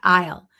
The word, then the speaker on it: I'll: Isle. I'll call you back. Very close. Isle. Remember isle. Very good. Excellent. So remember to listen. I I'll is pronounced differently than I will.